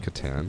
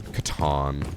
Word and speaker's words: Catan: It's pronounced Catan. Catan.